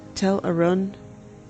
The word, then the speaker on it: Tel Arun: Tel Arun rhymes with fun.